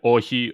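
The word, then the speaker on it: όχι: And then, we had Ohi, O-X-I, is how like it's spelled kind of in English script.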